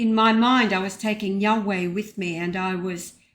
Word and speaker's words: Yahweh: The name is pronounced as Yahweh, which represents the biblical pronunciation of YHWH.